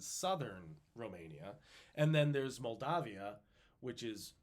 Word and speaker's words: Moldavia: I think it's a regional pronunciation, but Moldavia. It's good to say Moldavia just so you know there's an A in there instead of an O.